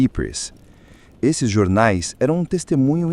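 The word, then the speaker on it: Ypres: O mais famoso foi o Wipers Times, uma pronúncia britânica de Epers.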